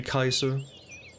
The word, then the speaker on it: Caesar: Caesar. I think you usually pronounce it Caesar. It can also be Kaiser. But we'll go with Caesar.